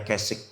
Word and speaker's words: Keswick: Keswick tulisannya, tapi bacanya Keswick. Keswick.